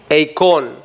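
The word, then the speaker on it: εἰκών: describe es una palabra en griego que se pronuncia con icon y con qué imagen y fibra lo puso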